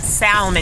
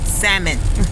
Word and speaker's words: salmon: on my salmon not salmon y'all you do not pronounce the L salmon okay it's pronounced salmon that I seared the